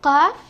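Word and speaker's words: ق: alif and now cough there are two types of cough one is cough the one from the throat and then we have another one called calf okay you should know the difference because this car is from the throat then we have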